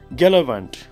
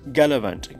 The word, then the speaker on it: gallivant: it like uh gallivant and something else but pronunciation is uh it's given there you can just read it like galavant okay it's galavant galavit means to travel or many places are